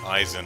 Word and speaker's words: Eisen: only know that because my name is eisen and it's spelled e i and it makes an i sound because it's german so i i